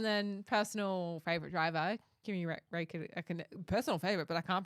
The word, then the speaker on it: Räikkönen: And then personal favorite driver, Kimi Räikkönen, personal favorite, but I can't pronounce his last name.